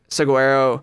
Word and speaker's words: Saguaro: Saguaro. People like pronounce it in their own way that they like to all the time.